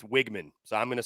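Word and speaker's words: Weigman: Connor Wiggman's or Wgman.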